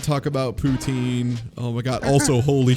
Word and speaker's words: poutine: No, it's poutine. That's how it's pronounced. Poutine. That's why we're saying it. It's poutine. Like that's how it's pronounced. Poutine or poutine if you have a French accent, but not poutine. It's not poutine ever. You say that here, people will laugh at you.